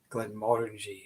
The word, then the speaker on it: Gleann Mor: Not Glenn Morangi. Gleann Mor. Gleann Mor, yes.